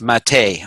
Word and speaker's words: MATE: on the old genome it's spelled mate but it's pronounced Matei I heard I just